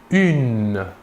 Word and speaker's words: une: Une. Il s'écrit UNE. Il faut bien différencier la prononciation entre le masculin et le féminin. Au masculin, un, et au féminin, une.